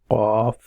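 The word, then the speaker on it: قاف: Qaf. This is again you have to pronounce from the right, from the bottom of your throat.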